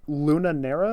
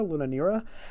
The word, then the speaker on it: Luna Nera: the name correct um where how do i pronounce luna nera luna nera l-u-n-a-n-e-r-a it's it is a romance show but